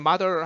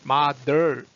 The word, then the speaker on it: mother: 이거 할 때는 mother 할 때는요. 그 혀를 말려서 올리지 마세요. 그러고는 그냥 혀를 뒤로 당기세요.